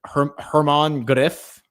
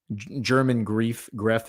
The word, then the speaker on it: German Gref: You have Hermann Greff, German Greff is how it's spelled, but I think it's pronounced Hermann Greff.